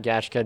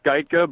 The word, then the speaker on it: Geitka: It's Geitka, but you know what? That's pretty close as far as first-time okay. pronouncers of the name go.